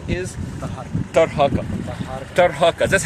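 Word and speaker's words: Taharqa: for thousands of years, saying him Tarhaka. That's most probably his name is pronounced right, but the Western, they called him Taharka. He might be corrupted, the name corrupted like many other of the ancient Egyptian names.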